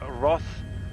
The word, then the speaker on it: Roth: get it right okay it's roth it's r o t h oh okay okay your your r sound yeah and your th